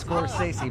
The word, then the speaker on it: Scorsese: It's Scorsese, Martin Scorsese.